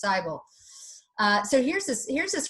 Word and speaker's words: Seibel: ever see e aí together in germany that's pronounced not me but I so its Seibel so here's this here's this great picture very